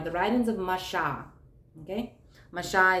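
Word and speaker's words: משה: writings of masha okay masha is the proper way to say moses this is the writings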